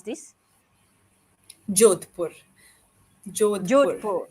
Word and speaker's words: Jodhpur: I'm having fun, and I want to ask you how to pronounce this. Jodhpur. Jodhpur. Jodhpur. It's Jodhpur.